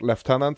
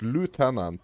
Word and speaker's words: lieutenant: left tenant, but uh, it's pronounced left tenant, right? I think that's so cool. like left tenant sounds so much more stylish than lieutenant. But but uh but lieutenant is is that like